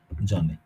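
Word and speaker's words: Sohn: এটাকে শর্ট অ বলবো, এই ও এর পরে যদি এরকম হা থাকে, এই হাটা উচ্চারণ হয় না, ওটা শুধু ইন্ডিকেট করে যে আগের ভাওয়েলটা লং, এই যে ওটা লং, আর ওটা লং মানে হচ্ছে ও এবং জোন।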